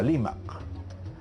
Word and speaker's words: Limac: Entonces, de un nombre como Rimac, ¿no es cierto?, por evolución de la aymara, por influencia de la aymara, ese nombre se pronunciaba Limac, ¿no?